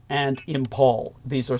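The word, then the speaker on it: Imphal: that would be the battles of Kohima and Impal. These are spelled K O H I M A. And Impal is spelled I M P H A L.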